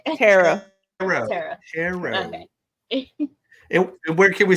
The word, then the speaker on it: Tarot: Tarot.